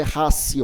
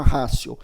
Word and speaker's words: ratio: aqui em cima racial lembrando que se escreve com t né se escreve ratio mas é racy última rácio e o segundo que